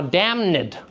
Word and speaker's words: damned: So we've added an extra syllable. So damned is now damned.